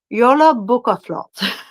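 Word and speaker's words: jólabókaflóð: It's pronounced yolo buo.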